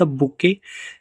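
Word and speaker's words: bouquet: द बुके is made up of flowers. यहां पे बुके की स्पेलिंग आप याद रखिएगा।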